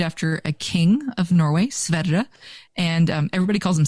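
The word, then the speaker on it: Sverre: s-v-e-r-r-e he's named after a king of Norway sveda and um everybody calls him Stam because because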